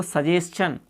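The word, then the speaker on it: suggestion: यहाँ पर देखो सजेशन, यानी कि TION से पहले अपना जस्ट बिफोर एस आने पर टी का उच्चारण अपना च हो जाता है, न कि से।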